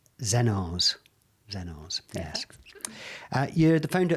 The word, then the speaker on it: Xeno's: You're a founder of XENO'S. Have I said it right? Yeah, perfect. XENO.